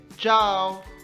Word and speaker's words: ciao: चाओ स्पेलिंग है CIAO, मगर प्रोनाउंसिएशन है चाओ।